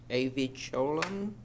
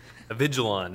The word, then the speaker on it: Avigilon: on to item h not sure how to pronounce this but um av choline safe city silver rfb award thomas avigilon is the correct pronunciation of that thank you good